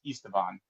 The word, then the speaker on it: Esteban: By the way, I got to pronounce his name right, which is Esteban.